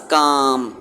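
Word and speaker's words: calm: The wolf was काम।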